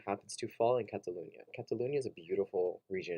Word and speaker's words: Catalunya: to talk about is Catalunya there's a lot going on there and here's what you need to know so Catalunya or Catalonia in the English pronunciation is an autonomous region